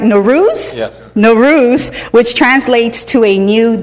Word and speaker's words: Nowruz: we also celebrate Persian New Year's do I pronounce that right no Ruth Nowruz which translates to a new day that being